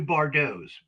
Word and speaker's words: Bardos: Well, I have a band called The New Bardos. It's spelled like Bar Dots, but it's it's it's a play on Bridget Bardau.